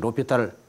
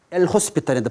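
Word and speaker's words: L'Hôpital: 그래서 로피탈을 엘 호스피탈인데 발음은 로피탈 그래요.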